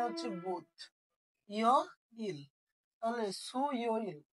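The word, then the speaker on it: 수요일: ইয় ইল, তাহলে সু ইয় ইল কি হয়ে গেল?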